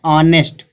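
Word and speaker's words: honest: आगे दिया है ऑनेस्ट। अब यहाँ पे जो यच है, यच का उच्चारण हाँ नहीं निकल रहा, यच का उच्चारण बड़ा आ निकल रहा, ऑनेस्ट।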